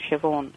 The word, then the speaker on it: Siobhan: Uh Siobhan. Yes. The spelling of it. Um it's an Irish name and the VH is the equivalent of V in Irish. That's why it's pronounced Siobhan.